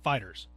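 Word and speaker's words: FighterZ: Dragon Ball Fighter Z, I believe. I think that's how they want it pronounced, but most people call it Fighters.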